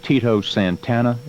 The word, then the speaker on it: Tito Santana: but not before there's a young wrestler named Tito Santana am I pronouncing his name right yes sir yeah what